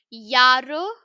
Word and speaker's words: ja: the alphabet section that J is pronounced as why okay so Yar will be pronounced with the Y okay next Vu which